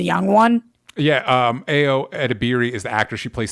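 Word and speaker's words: Edebiri: one yeah um ao edibieri is the actor she plays sydney what's her name ao at biri on imdb my stupid pronunciation is edibieri is what it looks like it's pronounced i do apologize because i'm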